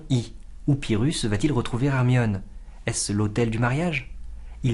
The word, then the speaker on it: Hermione: encore d'y trouver hermion entendez-vous la prononciation du I séparé du O c'est ce qu'on appelle une diérèse deux voyelles côte à côte sont séparées par la métrique cela crée un effet d'insistance sur le nom placé en fin de